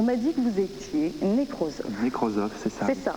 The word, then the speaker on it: nécrosophe: On m'a dit que vous étiez nécrosophe. Nécrosophe, c'est ça. C'est ça, hein, je le prononce bien.